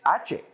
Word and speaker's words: ache: Well, H is ache. That word is ache. Ache. Write this. A I K. Ache. That's the sound. Okay? Or imagine the C H as a K. Right? But it's ache.